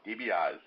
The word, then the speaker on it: DiBiase: I'm bringing back I rarely do this, Matthew DiBiase. Tobias, am I pronouncing that right? DiBiase, Ralph, DiBiase.